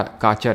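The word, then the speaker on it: Cachar: North का काचर hills. I think इसको काचर pronounce करते हैं।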